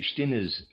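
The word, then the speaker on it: Stinnes: Readers aside, Stinis, I'm pronouncing it that way, is is spelled S T I N E S.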